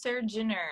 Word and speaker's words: Surgener: Yeah. Mine's Serge Jenner. I actually just put it in my in my profile now. just so people can figure out how to actually say it.